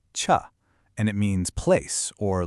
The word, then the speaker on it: 處: In Korean, it's pronounced cha, and it means place or location.